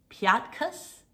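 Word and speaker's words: Piatkus: europe but um i don't know how to pronounce her name it's um i think it's called piatus um and i know it's some kind of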